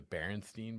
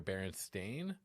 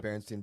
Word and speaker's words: Berenstain: big one was the the bernstein bears or the berenstein bears okay or the baron stain bears i think berenstein or berenstain do you you know the berenstein bears like i know the berenstain bears yet okay do you remember steen or stain i remember steen berenstein apparently it's stained yeah i remember staying